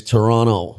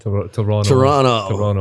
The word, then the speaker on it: Toronto: And by the way, if you do go to Toronto, don't apparently they don't like you pronouncing the second T. It's Toronto. Toronto.